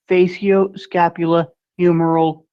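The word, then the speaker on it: facioscapulohumeral: that you're talking about it is called FSH muscular distrophy is pronounced phaso scapula humoral muscular distrophy hey Doc does my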